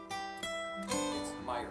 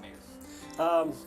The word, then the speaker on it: Myers: So Meyer. Yeah. Okay, not Mayer.